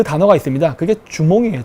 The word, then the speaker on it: 주몽: 다른 한자 를 보면 추모 대왕 이라고 해서 추모 라고도 발음 해요 그러면 주몽 이라고도 발음하고